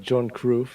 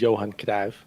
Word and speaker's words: Johan Cruyff: So try and be respectful to the original pronunciation where we can. I've also heard John Cruyff, so which is Johan Cruyff.